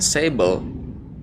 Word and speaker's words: Sable: Sable kan namanya, bacanya Sable.